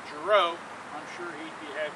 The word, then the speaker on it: Jirouch: And he said, well, that's a French name. So if you ever speak about Uncle Frank and you want to use his name Jirouch, I'm sure he'd be happy to hear that.